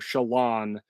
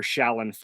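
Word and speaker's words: Shallan: a long time to convert myself to Shalon rather than shatlin I was calling her Shaolin for years in my brain uh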